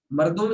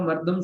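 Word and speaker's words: مردم: मरदुम इंसान को कहते हैं बेटा, आपने लफ्ज सुना होगा मर्दम शुमारी, लफ्ज सुना है ये मर्दम, वैसे तो मर्दम उसको बोलते हैं, लेकिन उसका सही प्रोनाउंसिएशन क्या है? मर्दुम।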